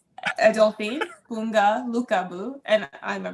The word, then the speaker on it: Adolphine: My name's Adolphine. So the second O is silent.